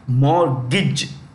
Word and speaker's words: mortgage: here reverse mortgage see the t is silent that is silent you don't pronounce it you pronounce only the mortgage part mortgage I know it sounds